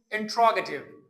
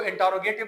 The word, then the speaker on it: interrogative: आज का जो हमारा टॉपिक है वो है इंट्रोगेटिव। लोग इसको इंटरोगेटिव भी कहते हैं, लेकिन इसकी करेक्ट प्रोनाउंसिएशन है इंट्रोगेटिव। इंट्रोगेटिव sentences.